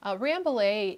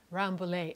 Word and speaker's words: Rambouillet: to talk about rambole ramblade is the way that Americans say the breed and it is a very very common breed that's raised in the western U.S I read just this morning that two-thirds of the western ranges have Rambles and the Shepherds and farmers are out there are going to say ramblade they're not going to say rambulay I can't even say it in the correct French pronunciation today is the 17th